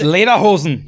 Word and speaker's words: Lederhosen: Okay, thank you for telling me that, because I got roasted on TikTok for pronouncing Lederhosen the way I pronounce Lederhosen. It's Lederhosen.